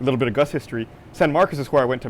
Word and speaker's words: San Marcos: bit further south is San Marcos. You have to say it the right way. San Marcos. San Marcos. San Marcos. People spell it with a U, it's with an O.